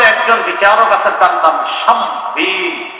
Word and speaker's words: শামবীল: বিচারকদের মাঝে একজন বিচারক আছে, তার নাম শামবীল। কি নাম? শামবীল।